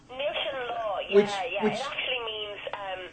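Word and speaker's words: Níl Sé'n Lá: One of my favourite tunes on the CD, and I excuse my pronunciation, Nushin La. Nushin Law, yeah, Which it actually means seize the day in Irish.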